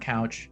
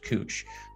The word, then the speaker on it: Couch: up just know that that's not couch it's actually pronounced cooch um that one gets